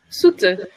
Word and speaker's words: Soete: and I hope I say this right, Soete. I'm sorry. How do you say it? Soete.